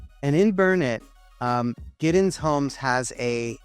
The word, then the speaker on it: Burnet: are new to Texas we don't pronounce it Bern we pronounce it burn it and in burn it um giddens homes has